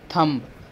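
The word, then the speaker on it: thumb: सो हो जाएगा थंब, तो यहाँ पे बी होगा. थंब होता है, थंब नहीं होता है, उसको बी साइलेंट होता है, तो बी करेंगे यहाँ पर.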